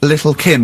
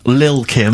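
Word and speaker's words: Lil' Kim: it's a track by Little Kim but how are you pronouncing it I'm pronouncing that correctly Lil Kim oh no te involved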